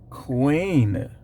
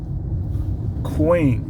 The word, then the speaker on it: quean: apparently of a queen which is sounds the same i'm just pronouncing it different i showed y'all the sound queen q-u-e-a-n ill-behaved woman prostitute